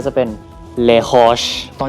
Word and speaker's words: Les Roches: ว่า ยัง ไง ครับ อ่า สำเนียง อังกฤษ ก็ จะ เป็น เลช แล้ว ก็ สำเนียง ฝรั่งเศส ก็ จะ เป็น เลช ตอน นี้ ให้ น้อง